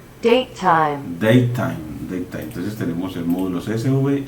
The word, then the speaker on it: datetime: Y lo pronuncio Datetime.